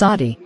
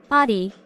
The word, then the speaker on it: Aadi: sure yes that's right the first part A is like the uh sound in Father try saying ah ah